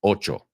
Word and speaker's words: ocho: the word twice great just think of the word eight Ocho the number eight and then just put